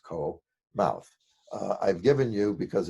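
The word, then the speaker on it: 口: woman, and for the word in modern Chinese pronounced ko, mouth.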